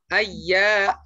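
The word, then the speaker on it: أيامًا: Terus ya tasdidnya kakak tekan. Jadi enggak boleh lama-lama, enggak boleh. Ai, enggak boleh begitu. Tapi bacanya yang cepat. Illa ayyaman ma'dudat. Ayya, ayya gitu ya. Bukan ai.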